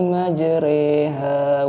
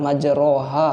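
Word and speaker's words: مجراها: yang bergaris bawah ya, itu bacanya bukan majroha ya, bukan juga majriha, bukan ya, bukan seperti i, tapi dia antara fathah dengan kasroh ya, itu namanya imalah.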